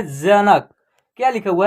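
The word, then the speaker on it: Janak: और के से क क का उच्चारण लास्ट में क्या होगा आधा हो जाएगा ठीक है ना जनक देख रहे है ना उच्चारण इसका लास्ट में आधा हो रहा है क का जनक ऐसे हो रहा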